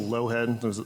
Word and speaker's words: Lougheed: My name is Lowhead. Is the pronunciation?